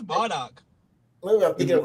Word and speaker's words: Bardock: Brock? I thought his name was Brock. Uh, Nah, it's Bardock.